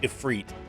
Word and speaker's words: Ifrit: i pronounce it now like ifrit i say ifrit even though i know the correct pronunciation is freet but i don't say it that way you